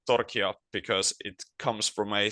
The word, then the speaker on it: Torchia: Well, it's actually a Spanish surname. So, if you would um you could say that the correct pronunciation is Torchia in a Spanish uh way.